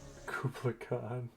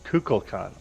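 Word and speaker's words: Kukulkan: Kublai Khan. Khan. Kukul Khan, I'll spell that for you. Kublai Khan, okay. Not Kugel. Kukul.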